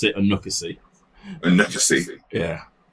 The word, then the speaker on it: Onuekwusi: the workforce i got that right so i pronounce it anoka c and let's just see yeah that's what my